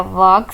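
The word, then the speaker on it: walk: वॉक slowly, वॉक slowly, इसमें L silent है। वॉक slowly.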